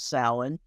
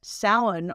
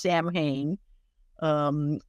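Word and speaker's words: Samhain: their New Year celebration the name itself which looks like it should be pronounced Sam ha um was a time when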